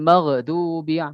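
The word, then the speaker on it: الْمَغْضُوبِ: Nah, ini kadang-kadang kita membacanya maghdu. Ghairil maghdubi magh itu samanya tawallud ketika membacanya. Tidak boleh seperti itu. Maghdubi seperti itu.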